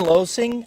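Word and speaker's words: Loesing: for Washington by chance uh Ben losing I believe is how it's pronounced l o e s i n g i I believe that's would how to be pronounced okay um that's who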